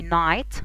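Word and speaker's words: knight: في حاجة تانية، إذا كانت الإن بعد الكي لا تنطق، زي نايت فارس، نو يعرف، أنا هنا ما نطقتش الكي أصلا.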